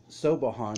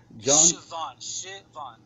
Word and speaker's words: Siobhan: Collins, which is Claudia, Sobahan, who I've mispronounced so much and I apologize for. Siobhan. Okay, Siobhan. I'm so sorry.